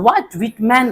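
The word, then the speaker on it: Walt Whitman: song of my self volt विटमैन इसको पढ़ेंगे एल जो है साइलेंट हो जाता है तो व्ट विटमैन कहते हैं इसको ठीक है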